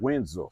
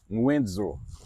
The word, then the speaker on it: Windsor: That's how you pronounce it. Winsor. Windsor. Winsor.